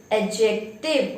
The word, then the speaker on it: adjective: of speech, that is adjective. Okay, how will you say it? Adjective. Here D is silent.